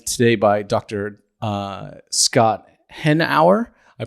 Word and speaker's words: Hanauer: I'm joined today by Dr uh Scott henour I pronounce it correctly you did um he is